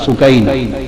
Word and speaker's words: سکینہ: جگر شہزادی سیدہ سکینہ، اصل نام ان کا عربی وزن میں سکینہ ہے، عرف عام میں سکینہ چلتا ہے، اصل لفظ سکینہ۔ سیدہ میں عرف عام کا لفظ استعمال کروں گا، تلفظ بتا دوں، سکینہ، سیدہ سکینہ، سیدہ سکینہ۔ دھوپ میں چھوٹی معصوم